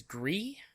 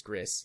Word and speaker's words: Gris: Winner of this one is Gree. I'm pretty sure that's how you say it. I don't think it's Gris. I think it's Gree.